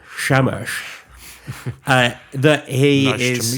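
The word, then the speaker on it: Shamash: I do like the idea that the sun god Shamesh, you have to say it like Sean Connery. Shamesh.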